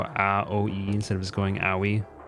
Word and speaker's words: Aoi: It's really funny listening to everyone pronounce Aoi's name because they go Aoi instead of just going Aoi, like a normal person.